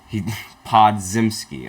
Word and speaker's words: Podziemski: Okay, Podziemski. Okay, that's how you pronounce his name.